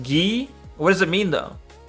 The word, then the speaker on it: gi: It's pronounced ghee.